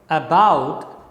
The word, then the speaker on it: about: example about this word about has two syllables syllable number one is ah and syllable number two is about about when you speak this word about then what happens that the first syllable is unstressed it is a weaker syllable and the second syllable bout is stressed it is a stronger